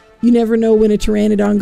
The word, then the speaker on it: pteranodon: So yeah, you never know when a pteranodon goes to the bathroom because the pee is silent.